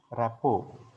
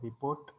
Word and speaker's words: rapport: Then next purpose is to build rapport. Try to understand its pronunciation. It's rapport, not report, not rapport.